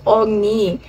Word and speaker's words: Oğuz: meron na palang It's ogni Actually guys yung g in Turkey kasi is silent yon So yung yung o ow so kailangan guys Ow y so silent G yung mga fans